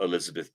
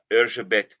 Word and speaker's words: Erzsébet: The story references what we Americans would call Elizabeth Bathory, Bathory. But in Hungarian, it's Erzsébet Bathory.